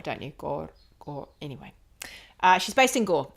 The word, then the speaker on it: Gore: But you have to roll your R's when you say Gore, don't you? Gore.